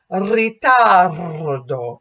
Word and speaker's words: ritardo: And then when we roll that R or trill that R, ritardo, it makes it stress.